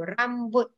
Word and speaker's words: rambut: Not rabu, you have to pronounce T also. Rambut.